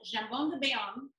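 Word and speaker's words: jambon de Bayonne: ham of france and in french it's called jambon de balum but here on this side of the atlantic we call it baom cam a few housekeeping details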